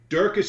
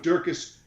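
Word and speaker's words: Dricus: has subs listen I'm just gonna say his name's dracus though it's d-r-i-c so excuse me excuse me dracus I apologize duplex C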